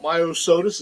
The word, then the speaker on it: Myosotis: Myosotis is how you pronounce it.